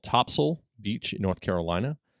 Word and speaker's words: Topsail: it's named after the top sale of the ship but it's not pronounced top sale correct topsail that's the that's that's